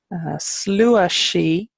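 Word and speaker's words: sluagh sí: huh the fairy wind that's she gree huh slower she which is the fairy host slower she Taisha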